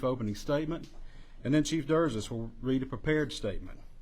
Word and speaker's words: Derzis: Joining me at the podium today will be Hoover Mayor Frank Brocato, spelled Brocato, and Hoover Police Chief Nick Derzis, spelled Derzis.